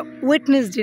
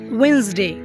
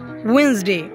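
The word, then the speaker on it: Wednesday: এটা ওয়েটনেসডে না। এটা হচ্ছে ওয়েসডে। বল উইনসডে। তারপরেরটা কি? তারপরেরটা হচ্ছে দেখো উচ্চারণটা কিভাবে হবে?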